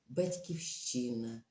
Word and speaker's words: Батьківщина: держава це наша Україна батьківщина ось тому вона пишеться Це слово пишеться з великої літери має наголос на третьому складі і я вважаю значне